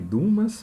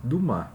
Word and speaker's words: Dumas: A Dama das Camélias, Alexandre Dumas Filho. Né? Muita gente lê aqui Dumas, mas é um nome francês, não se pronuncia o S, então é Dumas.